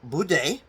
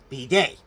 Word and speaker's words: bidet: it about the bed or Bud uh that's the American way you say it or again b day but again not pronouncing the T afterwards so now you might